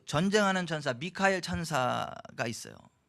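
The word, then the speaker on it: מיכאל: 영어에 마이클이라는 그 말이 미카엘 천사장이에요. 근데 영어식으로 발음을 맞아 보니까 그냥 마이클 이렇게 되는데 원래는 미카엘이에요.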